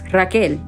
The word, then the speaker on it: Rachel: It is spelled that way. However, it is pronounced Raquel or Raquel.